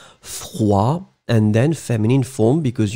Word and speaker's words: froid: So masculine form will be froid, remember, final day not pronounced, froid, and then feminine form, because you add this you will pronounce the d in the end. So masculine form froid, feminine form froide.